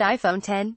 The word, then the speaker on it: iPhone X: Cook unveiled the much-anticipated iPhone X pronounced iPhone 10 Cook said we're not